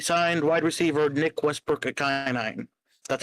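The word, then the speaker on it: Ikhine: Yeah, we signed wide receiver Nick Westbrook at Kenai. That's how you pronounce his name.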